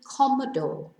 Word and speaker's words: cómodo: Cómodo tells us to stress the first syllable rather than the penultimate syllable, whereas in fácil, it tells us to stress the first syllable rather than the last syllable.